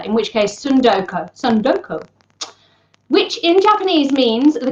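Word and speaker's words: tsundoku: butcher this word entirely sundoko sundoko I'm presuming you don't pronounce a t that's at the start of a word that then has an S as the second letter in which case sundoka sundoko which in Japanese means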